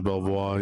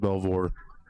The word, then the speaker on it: Belvoir: Uh I thought it was Belvoir. He says that's how they pronounce it in France, but uh his family actually pronounces it Belvore. Belvour.